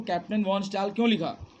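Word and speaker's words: von Stahle: That's why he wrote himself as captain वॉन स्टेल। इसमें एच की आवाज़ silent होती है, स्टेल। उसने अपने आप को कैप्टन के नाम से लिखा और एक्सेप्ट किया।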